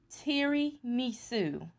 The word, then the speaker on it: tiramisu: pumpkin tiramisu oh okay let me pronounce it right pumpkin teary misu that's how it's pronounced but it's pumpkin tiramisu okay that's what we're